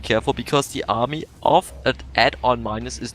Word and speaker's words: Adominus: for a few minutes it's add on minus like you know mathematics add on minus yeah yeah that might